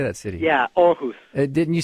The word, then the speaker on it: Aarhus: Yeah, Aarhus.